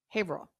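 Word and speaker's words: Haverhill: it's spelled is not the way it's said English is hard well listen it's called it's spelled hah Hill okay hah Hill New Hampshire but they call it hail okay because they have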